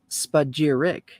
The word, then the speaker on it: spagyric: term spagirix by periclesis the word spajiric pronounced spagirik is derived from the greek